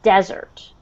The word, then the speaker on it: desert: So the word desert, Sandyland. the emphasis is on the first syllable, okay? So the stress is on the first syllable, desert, okay? And if you notice, desert has one S, okay?